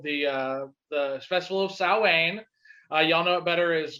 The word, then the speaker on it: Samhain: original Halloween was actually called the Festival of Samhain. Y'all know it better as Glenn Danzig's other band. It's spelled Same as- hand. Yeah, but it's Yeah. pronounced Samhain.